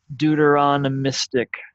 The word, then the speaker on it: deuteronomistic: bit harder to pronounce not not always do you see it as Deuteronomic but deuteronomistic you just add another syllable in there the ist part deuteronomistic history now before